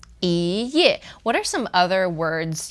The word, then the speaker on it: 一页: And this is our tone change. Because here ye is fourth tone, right? So the E becomes E, ye. 一页.